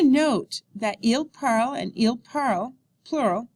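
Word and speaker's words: parlent: that IL parl and IL parl plural sound the same okay remember that the ENT ending is silent note the when the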